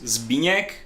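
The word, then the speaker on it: Zbigniew: can be if you will but it's zbigniek it's very old czech name but for people who has trouble to pronounce it uh my foreign colleagues call me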